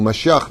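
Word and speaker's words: משיח: C'est pour ça que vous allez voir que le mot Mashiach ne peut pas se prononcer avec des lèvres qui vont vers la tristesse. Essayez de dire Mashiach tel qu'il est marqué en hébreu. Pas Messi.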